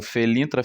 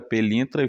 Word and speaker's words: Pelintra: que tinha som de F com som de P, e acabou sendo passado aí como Felintra, Felintra, Pelintra, e foi-se, conforme esse